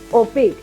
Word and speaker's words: opaque: yes what about this one how do you pronounce this pick yes Mystic right and this one is opaque yes so whenever we have this combination of